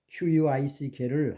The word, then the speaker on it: quick: Q는 KW로 발음합니다. K와 W를 동시에 또는 이게 순차적으로 발음하는 건데 크위 그런 거예요. 그래서 앞에 있는 그 QUICK를 하는 것 사람들 quick 그런데 그건 quick이 아니고 quick 조금 다르죠. quick하고 quick은 조금 다릅니다. 미국 사람들은 quick 그러지 않습니다.